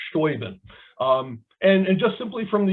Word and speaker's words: Steuben: We know, for example, that American soldiers in the Continental Army often spelled things kind of phonetically. And I've seen several points where his name is written S-T-O-O-B-E-N or S-T-O-O-B-I-N, never written in a way that would look like Steuben.